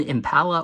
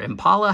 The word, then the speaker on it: Impala: uh 54 over here the 61 Impala or Impala however you prefer to pronounce it and the 72 Chevy